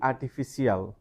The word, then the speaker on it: artificial: We normally tend to break it down into 2 syllables. So আমরা CIAL কে দুটো সিলেবলে ভাগ করে সাধারণত উচ্চারণ করি সিয়াল। আমরা বলি artificial or artificial. Some people say artificial, but the exact pronunciation is Artificial. artificial. Artificial. Now when you pronounce, you have to stress the third syllable and you have to say artificial.